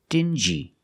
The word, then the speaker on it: dingy: they're pronounced differently example dingy and stingy these two words have the regular n Sound plus the J like juice together stin G together stingy or din G together dingy this wall is very dingy